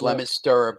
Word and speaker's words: Leominster: It's pronounced Leominster, but the locals know how to pronounce it correctly.